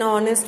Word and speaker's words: honest: Next, in some words the first letter H is silent and the word gives a vowel sound. Such words take an before them, such as an hour, an honest man, an hire, etc.